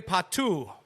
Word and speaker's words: Pato: And they have now officially announced that Alexandre Patou from AC Milan, forward, 87 career Hold on. goals at the age of 31. P-A-T-O? Yes. Yeah, he's and an they pronounce it international Patou.